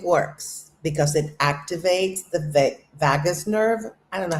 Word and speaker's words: vagus: Because it activates the vagus nerve. I don't know how to pronounce that one. I know what it is. Is it Vegas? Vegas? Vagus. It sounds like Vegas, so it's kind of weird.